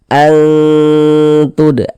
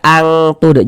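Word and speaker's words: أَنتُ: Kita baca seperti ini. Antud, antud. Jangan dibaca angtud, jangan.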